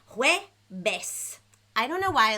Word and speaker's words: Jueves: Jueves.